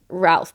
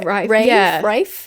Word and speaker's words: Ralph: I Okay, I was pronouncing it Ralph, but I'm pretty sure that's wrong. I think it's like Yeah, Rafe.